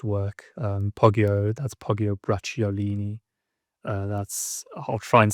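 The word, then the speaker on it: Bracciolini: Um Pogio, that's Pogio Bratiolini. Uh that's I'll try and spell that for you. B R A C C I O L I N I I believe Pagio Bratulini.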